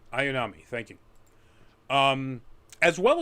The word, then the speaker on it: Ayanami: and um ray i always forget how to pronounce her last name ayanami ayanami thank you um as well as a few